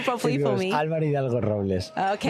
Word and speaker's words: Álvaro Hidalgo-Robles: Álvaro Hidalgo-Robles.